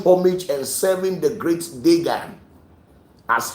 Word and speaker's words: Dagon: You could see that the great apostle Paul was serving a deity called Dagon, what you people call Dagon. The correct pronunciation is Dagon.